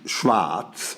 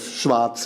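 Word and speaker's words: Schwaz: had not heard of Schwarz as a place, and I knew of Klangspuren, but not of Schwarz. I was told that it was just pronounced the way Hamburgians say Schwarz, except without the R.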